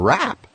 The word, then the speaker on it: wrap: When the W and R come together, like in wrap, the W is silent.